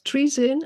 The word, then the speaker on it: Trizin: It's Trizin and it's Deradun.